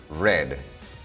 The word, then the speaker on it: read: Tenemos el verbo read, leer, y su escritura no cambia, sino solamente su pronunciación, read.